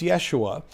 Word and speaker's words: Yeshua: It was Yeshua. And according to language scholars, it was probably pronounced something closer to Yeshu given the accents that can be surmised by Jesus's presumed heritage.